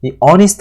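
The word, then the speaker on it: honest: 그것도 마세요 것도 맞는데 여기는 어니스트 할 때 h 발음은 사실은 소리를 내지 않습니다 그러니까 우리가 허리 스트라고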